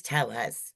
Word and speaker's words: Tellez: And today we're talking with Liz Telles. Did I pronounce that right, Liz?